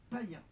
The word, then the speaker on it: païen: Enfin, le tréma permet d'indiquer qu'il faut prononcer deux voyelles séparément. Il est toujours placé dans la seconde voyelle. Hir, égoïste ou le mot païen.